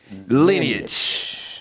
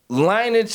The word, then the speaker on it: lineage: saying to say, "Hey, the word is lineage." That's how you say it. So, Linage is uh look man, you know what?